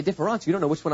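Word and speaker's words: différance: Okay, différence with an E and différence with an A are pronounced exactly the same in French.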